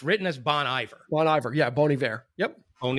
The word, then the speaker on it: Bon Iver: Pronounced the way it's written. Okay. Okay. So the name of the band and the way it's pronounced is Bon Iver.